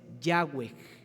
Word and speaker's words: Yahweh: una pronunciación en aquellos que querían entender cómo pronunciar el nombre. Y el nombre es Yahweh, como la canción que nosotros cantamos el domingo pasado.